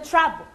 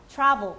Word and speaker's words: travel: 이 모음은 묵음 처리가 아니에요. 이게 묵음이 되면 travel 이거든요. 아니에요. travel. 그러니까 발음은 하는데 대충 발음을 하세요. 약하게, unclear, reduced하게. 한국말로 하면 약간 흐리멍텅하게. 근데 없는 건 travel이 아니에요. 그래서 travel, 이렇게 지나가요. 그냥 이렇게 tra가 더 살아야 돼요.